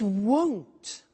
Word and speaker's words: won't: It won't be sunny is the negative. Won't, remember the difference between will not, won't, and want, won't, want. So be careful with that pronunciation.